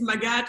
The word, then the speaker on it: Magatte: Magatte, hello, hello. Hey, Sifli, it's Magatte, but it's all good.